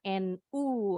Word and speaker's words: new: sama kalau orang Inggris bunyinya ada huruf y-nya sama dengan tahu new juga tapi kalau orang Amerika nggak pakai bunyi huruf y i know with bunyinya NU aja bukan NU Nahdlatul Ulama